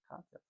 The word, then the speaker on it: Cocteau: Cocteau. That's how you pronounce it.